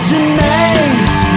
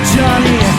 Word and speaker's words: Janae: Cause it's pronounced Janae, not Johnny.